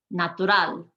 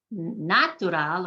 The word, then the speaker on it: natural: Natural, ciudad, comer, vivir, andar, amistad, señal, amor. It's not natural or natural, it's natural. I'm hitting that last syllable harder than the rest.